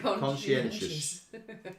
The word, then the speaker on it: conscientious: There's no sh in it.